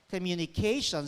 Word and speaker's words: communication: Dr Danny purposive communication communication stress on the syllable preceding t-i-o-n aluminum foreign we